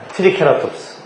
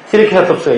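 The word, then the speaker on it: Triceratops: 트리케라톱스. 영어 발음은 세라톱스라고 하고 한국에서는 케라톱스라고 읽는데요.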